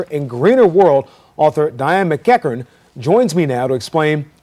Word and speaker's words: MacEachern: did a great job a Scottish name very good um going